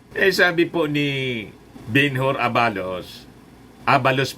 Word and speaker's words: Abalos: Sabi po ni Benhur Abalos, Abalos pala ang pag-pronounce yan, Benhur Abalos.